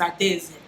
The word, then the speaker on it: Adaeze: i'm gonna pattern them tell them no it's ideas say it right because it means princess